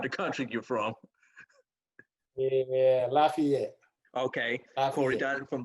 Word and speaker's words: Lafayette: Because it's pronounced about 4 different ways depending on what part of the country you're from. Yeah, Lafayette.